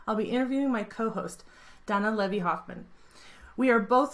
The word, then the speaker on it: Danna: Donna our resident hippie hi Donna hey Megan how's it going am I saying it right you are you're the only person on Earth who says my name right could that be you're